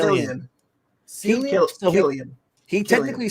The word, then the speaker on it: Cillian: So Killian.